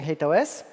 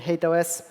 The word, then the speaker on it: HATEOAS: a terrible acronym, unfortunately, and it's pronounced in a variety of ways. I'm personally calling it HATEOAS. It's Hypermedia as the engine of application state. You can pronounce it however it feels natural, but yeah, it's not a great acronym.